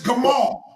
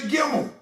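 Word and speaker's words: gimel: It's gamal. It's gamal. You can't say gimmel. You only can say gamal.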